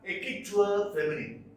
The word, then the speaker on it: écriture féminine: This one, écriture féminine. Écriture is French. Écriture féminine is how it is pronounced.